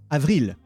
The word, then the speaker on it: avril: Here you have Avril. So you pronounce the L.